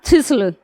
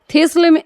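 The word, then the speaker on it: thistle: मिटाती हूं इधर का अगला एग्जांपल है हमारा थिसल टी एच आई एस टी एल ई थिसल थिसल ये इसका उच्चारण यह होता है देखिए थिसल है इसका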